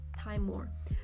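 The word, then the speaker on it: Timemore: teamwin more timing more i actually pronounce it as taimour thai more chestnut c2 i think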